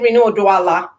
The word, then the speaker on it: Rinu Oduala: check uh name pronunciations is it reno doala yes yes okay i'm saying